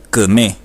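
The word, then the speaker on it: küme: La palabra kme quiere decir bueno. Traten de imitar la pronunciación. Kme.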